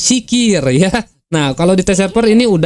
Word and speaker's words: Sakeer: Well, so you can also hear, guys, what is the pronunciation of the global name sakir , so it's sikir, okay?